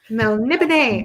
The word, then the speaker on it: Melniboné: Melniboné.